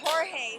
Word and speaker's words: Jorge: So you said Jorge. So it's spelled like George, though. Jorge.